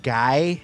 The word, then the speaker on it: Guy: Not Guy. No, not it's Guy. Guy. It's French Canadian.